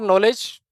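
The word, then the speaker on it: knowledge: के फॉर नॉलेज, के फॉर नॉलेज, के फॉर कोलकाता, के नॉलेज। नॉलेज जो वर्ड होता है ना, वो के से शुरू होता है, के साइलेंट रहता है।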